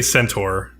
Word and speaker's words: Centaur: So I would say Centaur. But I say Centaur. I don't know. Yeah, I think it's either equally like. I think they're both fine.